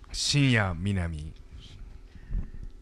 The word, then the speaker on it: Shinya Minami: Shinya Minami.